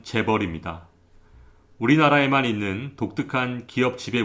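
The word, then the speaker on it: chaebol: 합니다 하지만 우리나라는 어떨까요 ch bol 발음기호 대로 읽으면 재 버립니다 우리나라에만 있는 독특한 기업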